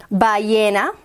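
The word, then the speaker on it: ballena: words at the back yena with with which is whale which is a great word and it has two l so the two else are pronounced like a y by ye na isn't that interesting spanish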